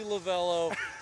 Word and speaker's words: Lovullo: So, it's officially lavello. Phonetically, it doesn't sound anything like that or look anything like that, but I'll answer anything. So, wait, so what's it supposed to be? Lavvalo. Lavalo. But my heavy accented grandmother who was born and raised in Italy could not say it properly.